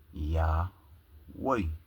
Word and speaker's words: Yahweh: Abraham, Isaac, and Jacob, which his name is Yah Way. Many people out there believe nobody knows really the true pronunciation of YHW.